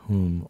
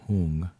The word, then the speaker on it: Hum: this blue home and you'll hear it pronounced whom or whom recognize that this blue